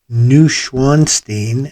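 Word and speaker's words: Neuschwanstein: a variety of scenes this one features the new schwanstein and that's yes that's correct don't even bother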